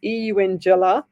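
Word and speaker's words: Eungella: So Karen Baker, she said 21 and 27, Eungela, like saying young Ella. That's how you say it.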